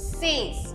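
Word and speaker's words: says: एस ए वाई एस सेज अब हमें खींचना नहीं है सेज करके उल्टा एस ई जेड प्रोनाउंस करो सेज सेज ठीक है?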